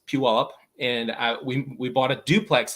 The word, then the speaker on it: Puyallup: It's spelled very differently than it sounds. It's Puyallup.